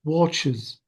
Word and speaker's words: watches: Watches. Bravo, watches. Notice that I pronounce the E sound.